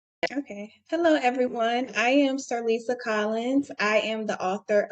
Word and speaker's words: Cerlisa: please correct me if I state your first name wrong. So we have Cerlisa Collins on with us. Not your Cerlisa. It's Cerlisa, no problem.